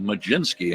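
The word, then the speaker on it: Mlodzinski: I'm still thinking about the pronunciation of Majinski, actually.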